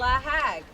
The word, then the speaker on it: LAHAG: Is that how we pronounce it? Absolutely. LAHAG, great.